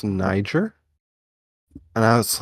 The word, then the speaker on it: Niger: Bro, everyone looked so quickly around at me, and it got real silent, and the teacher's like, it's pronounced Niger.